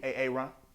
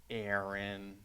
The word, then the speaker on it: Aaron: mean you better be sick dead or mute ay-ay-ron here it's why you mentioned when I said